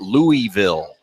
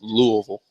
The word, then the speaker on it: Louisville: from Louisville Kentucky yeah we need a proper pronunciation of the city name because uh I know the natives do not call it Louisville correct Louisville Louisville Kentucky it's the proper does that does that